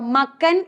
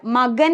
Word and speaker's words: മകൻ: അങ്ങനെയാണെങ്കിലേ മകൻ എന്ന് നമ്മൾ പറയുമ്പോഴോ മക്കൻ എന്ന് നമ്മൾ പറയാറില്ല, മകൻ എന്നാ പറയുന്നത്. അതായത് കായാണ് എഴുതുന്നതെങ്കിലും എന്ത് വന്നു? ഒരു ഗായുടെ ഉച്ചാരണം, അതായത് ഖരവർണ്ണമായിരുന്ന കായ്ക്ക് ഒരു മൃദുവിന്റെ ഉച്ചാരണം വരുന്നു.